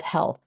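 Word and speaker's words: HLTH: I went to a conference in Vegas called health and it's spelled l HLT and at the 2023 conference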